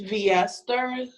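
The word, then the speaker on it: V'Esther: My real name is pronounced V. Esther. That's V' Esther.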